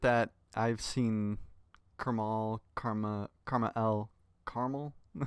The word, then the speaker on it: KrmaL: I'm Karma L. That is how it's pronounced.